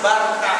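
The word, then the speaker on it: Barça: lain daerah atau kota Barsa itu katanya kamu enggak boleh baca-baca bacanya harus Barkah karena sebetulnya nama kota kami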